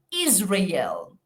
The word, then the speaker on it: Israel: Israel. La Z representa la S sonora.